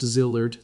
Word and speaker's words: Szilard: Leo Szilard, pronounced Szilard, the physicist who had drafted the letter to Roosevelt that started the atomic bomb program.